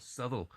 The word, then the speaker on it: Southwell: I think the locals call it Southwell, but everywhere else subtle, you know. But it's a bit like um, what's the one? A bit like Shrosbury and Shrewsbury. Yeah, a little bit.